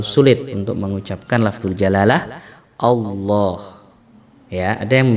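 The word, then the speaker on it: الله: Untuk lam yang dibaca tebal itu lam yang dibaca pada lafzul jalalah, yaitu kata-kata Allah. Ya, Allah itu cara membaca lamnya itu dengan ditebalkan suaranya.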